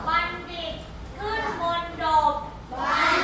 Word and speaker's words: บัณฑิต: จำ นะ คำ แรก ค่ะ บัณฑิต อ่าน ว่า บัณฑิต บัณฑิต อ่าน ว่า บัณฑิ มณฑบ อ่าน ว่า มณฑบ